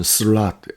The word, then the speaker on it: sloth: 그 영어로는 슬랏, S-L-O-T-H, 슬랏이라고 그러는데, 여러분, 슬롯 머신을 생각하십니다. 물론 스펠링은 틀립니다.